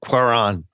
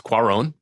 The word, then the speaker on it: Cuarón: years later McQueen or koron um cuarón it's cuarón cuarón uh I've pronunciations it's